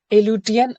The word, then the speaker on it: Aleutian: Next one है कि a ship selling from eastern extremely of the Aleutian Island to the Dutch harbor. Okay, क्या pronunciation है इसका?